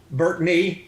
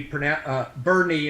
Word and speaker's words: Burney: Burtney is the way he Burney is the way Christopher pronounces his last name.